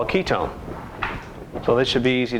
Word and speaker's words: ketone: in the entire word ketone but typically you will see the o any ending and it looks like one but it's pronounced own always its own for ketone what would be the